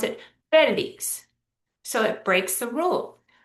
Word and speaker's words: Felix: But the man's name Felix is spelled almost the same way, just with an X instead of a Z, but we pronounce it Felix.